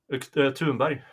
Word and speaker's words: Thunberg: Thunberg. Really? Thunberg? What? Thunberg? Is that the Swedish pronunciation? Yeah, the H is silent.